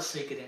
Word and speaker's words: Suikoden: But if they can get Silent Hills and a Suikoden or a Suikoden, I'm gonna call it Suikoden. That's the correct pronunciation.